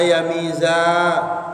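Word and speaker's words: يَمِيزَ: Hatta yamiza sehingga bedakno sapa Allah bitakhfif, bacanya pakai takhfif berarti yamiza.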